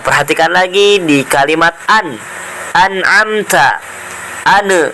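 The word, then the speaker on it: أَنْعَمْتَ: Nah, tidak boleh dibaca ane. Ane amta. Ane amta. Ane amta, itu tidak boleh. Bacanya gimana supaya tidak mantul? Maka si lidahnya itu ditahan terlebih dahulu. Bacaan yang benar adalah sebagai berikut. Siratal ladzina an'amta 'alaihim.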